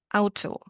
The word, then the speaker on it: Auto: Well, the letter combination AU in German sounds like Au in cow.